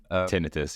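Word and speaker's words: tinnitus: well I developed uh Tinus tinius I don't know how it's pronounced in English tinitus yeah tinitus like ringing in the ears um which had a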